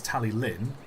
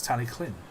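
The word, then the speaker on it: Talyllyn: or tally Clin it's some people think it's tally Linn because it's two Ls it's t Clin it's weird uh but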